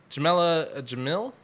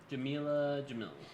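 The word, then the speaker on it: Jameela Jamil: a cheerleader yep okay uh uh jamella uh jamella jamil that's how you say her name jamila jamil um so she was a model turned actress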